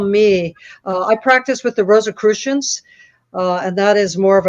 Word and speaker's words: Rosicrucian: How do you pronounce it again? Rosicrucians, Rosicrucian, like I'm in a spelling test here.